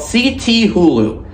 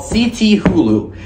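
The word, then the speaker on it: Cthulhu: season they have released this new prop called CT Hulu now I couldn't pronounce the name at first until just a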